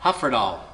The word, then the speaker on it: Hyfrydol: The tune name is Hyfrydol. And Jake got it right instantly tonight. I was very impressed. So it is no Y sounds at all. Hyfrydol is how that comes out.